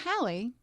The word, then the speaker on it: Halley: be called Haley that I'm like, okay, I'll take it. Yeah, you pronounce it right. Right. So Hallie, and you grew up in what town in Maine?